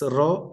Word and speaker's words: rho: Its pronunciation is, I can say, R-A-W, you can say. It's rho, R-O-W, R-A-W, whatever it is.